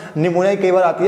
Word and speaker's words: निमोनिया: वो याद है ना, निमोनिया कई बार आती है आपकी क्या बोलते हैं इसमें मिसस्पेलिंग मिस्टेक के अंदर, तो याद है ना पी जो इसमें होता है साइलेंट, ठीक है।